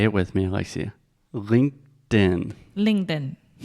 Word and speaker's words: LinkedIn: as well yeah okay let's begin with the pronunciation say it with me Alexia linken LinkedIn L ding L ding when Alexia is being